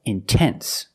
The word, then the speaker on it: intense: e the internet but this rule depends on stress if you have a stress after the NT if you have a stressed syllable after NT then you have to pronounce the T example intense I put the stress after the NT so I have to pronounce a t I cannot say in